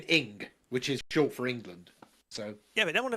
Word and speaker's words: England: It's always Ingerland. Yeah, I've never heard that before. Ingerland. There's always an extra syllable in there somewhere. And it's like, how are you doing that? England, 2 syllables.